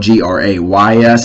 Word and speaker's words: Grays: great things about aging, because it is spelled G-R-A-Y-S, not Grace, G-R-A-C-E. It's grays, as in like gray hairs.